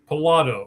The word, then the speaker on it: Pilato: Pilato. All right. Like Pilates, right? Yeah, that's a good way.